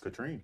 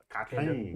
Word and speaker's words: Catherine: My name spelled looks like Catherine, but you both know it's pronounced. Katrine. That's right. It's really Catherine. Let's hear it. Katrine.